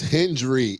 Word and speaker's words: Hendry: It's Hendry. It is Hendry. It is a D in his name. I'm tired of all y'all saying Hendrix. His name wrong.